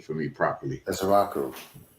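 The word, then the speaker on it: Ezeiruaku: Pronounce Donovan's last name for me properly. Ezeraku. Ezeraku, right?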